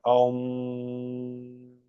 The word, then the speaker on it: Om: Se debe pronunciar Om con resonancia nasal, que no es sino el propio Brahman, reducido a sonido.